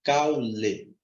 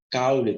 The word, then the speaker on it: caule: se pronuncia caule pausadamente caule caule tá vendo dois impulsos sonoros você joga para fora então não são três